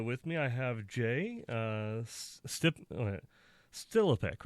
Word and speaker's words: Stilipec: So, with me, I have Jay Stilipec, right? That's correct. Good job. A lot of people mispronounce my last name, so I understand.